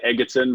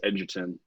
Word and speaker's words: Edgerton: Usually people say Edgerton, but yeah, it's Edgerton.